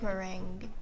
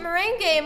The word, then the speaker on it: meringue: ring i don't like meringue oh i thought it was called merengue oh it's not merengue is a type of dance i pronounced it moraine game mommy didn't correct me